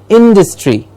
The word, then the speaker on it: industry: a clear stress interest industry very very often mispronounces industry there is no dust of course there is dust in the industry that the word is industry in this just like